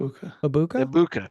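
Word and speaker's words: Egbuka: Ibuka, thank you. Ibuka.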